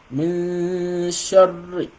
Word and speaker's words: مِن شَرِّ: To be able to pronounce the shadda of the sukun, then you have to assume that you're pronouncing what? That you're pronouncing 2 ra. So you have to assume you're pronouncing 2 ra, one with the sukun and the other one with the shadda, with the kasra, right?